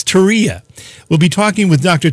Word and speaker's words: Terje: and you've all been challenging me to pronounce his first name, but it's not as hard as it looks, actually. It's Terje.